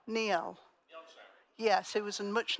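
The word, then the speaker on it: Njál: So the other saga that's spelled N-J-A-L, Neil.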